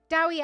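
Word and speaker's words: Dewi: were wrote when Dr dwey Evans well doy he's he's Welsh you meant to pronounce it d dowy Evans Dr dowy Evans he's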